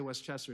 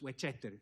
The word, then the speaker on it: Westchester: Avenue in 8 street we don't say Westchester it's Wester because Cubans don't pronounce the words correctly sometimes I grew up